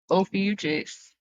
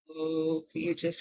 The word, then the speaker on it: Ophiuchus: So, you know how I'm going to remember that? I'm going to think of mucus. Like, when you have to blow your nose.